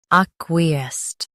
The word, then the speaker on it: acquiesced: Ac, we, est, acquiesced. Stress ac and keep we light. The sked is soft.